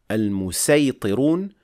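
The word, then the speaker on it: المصيطرون: The word al-musaytirun, it is pronounced with seen in al-fil, al-musaytirun, and in Ash-Shatibiyyah you can have it in both ways, with seen or sad.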